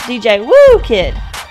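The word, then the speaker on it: DJ Whoo Kid: I guess and lastly I think my sidek Kick's name is actually pronounced DJ woo kid because it's okay for your name to be a sound also it does make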